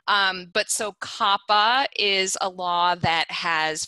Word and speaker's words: COPPA: before sopa came along so for instance um kappa which i actually prefer to call copa because i just like to think that i'm in copacabana but i think it is kappa my husband works for the ftc and he